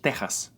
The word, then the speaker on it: Texas: word like that is teas even though both of the words are spelled with echis they are pronounced like letter H in the word ham these two words are